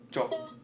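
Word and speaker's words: จก: That's technique called จบ Jok. Yes, Jok. จบ And how do you spell that? จอจานกอไก่ Jojan Gogai. Jok.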